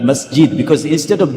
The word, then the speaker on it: masjid: many massid there many masid so they say masgid not masjid because instead of g they pronounce G not J G.